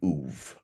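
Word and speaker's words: אוב: So my point is that hybridism is centered around the oov. It's spelled OB in Hebrew.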